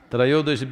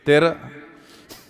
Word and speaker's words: Trayodashi: North Indian people must connect, don't go on clipping away one syllable and come Dhanavantari becomes Dhan, Trayodashi becomes Tera.